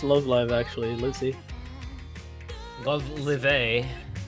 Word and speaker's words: Love Live: It's pronounced Love Live, actually.